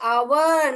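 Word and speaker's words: hour: हम आर्टिकल्स में देखेंगे क्योंकि आवर में एच का साउंड ह ह ह है मगर यहां ओ का साउंड ही यहां पे आ रहा है आवर आ अ अ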